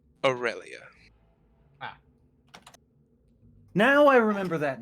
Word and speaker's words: Aurelia: because that was like aura aurelia well that's a u r e l i a aurelia in the boros legion is spelled not the same a u r e